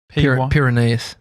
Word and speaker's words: Pyrenees: Pyrenees.